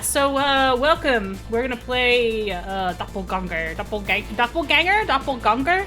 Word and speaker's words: Doppelgänger: The dots over the A means it's got to be pronounced in a different way than like ganger.